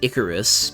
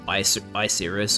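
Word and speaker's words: Icirrus: I pronounce it Icarus because it's spelled I-C-I-R-R-U-S, so I went Icarus.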